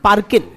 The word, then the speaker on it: Parkin: Several studies by scholars such as Frank Parkin, FRANK, Parkin, पार्किंग word लिखो, उसमें से जी हटा दो, पार्किन, Frank पार्किन, scholars like